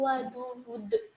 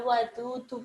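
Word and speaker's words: ودود: Wa huwal ghafurul wadud. Itu bukan dibacanya bukan wadudu, bukan ya, tapi dimatikan.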